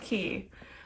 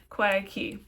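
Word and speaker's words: Quay: It's pronounced key. Um, qui. It's actually key.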